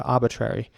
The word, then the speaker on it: arbitrary: it again arbitrary arbitrary and in American English is actually a bit shorter arbitrary so again I think I tend to personally a bit more to the American version of of pronouncing this here arbitrary rather than arbitrary but it's pretty similar